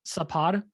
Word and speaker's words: Sapod: mediocre exceptionally this is my last name ukrainian is pronounced sapod which literally just sounds subpar so you know uh